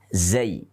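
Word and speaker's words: زاي: Kalau kita mengeja di dalam bahasa Arab namanya zayun. Zayun. Yaitu huruf zai. Ingat, seringkali ini diucapkan dengan nama huruf za. Za adalah harokat untuk zai.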